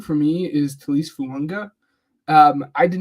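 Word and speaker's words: Fuaga: There's no N in his last name, but it's Fuanga. It's pronounced with an N in it.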